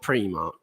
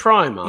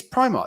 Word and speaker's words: Primark: Yeah, it's not Primark. It's Primark. Yeah, it is Primark.